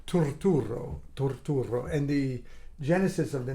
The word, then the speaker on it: Turturro: so if I didn't start he would say tatara he was Irish you know get in there